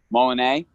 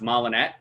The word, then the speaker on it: Molinet: Yeah, that's like the correct French pronunciation, but I grew up with it being pronounced Molinet. But either way. Molinet? As I got older, I started to appreciate the Molinet, you know, like the French pronunciation.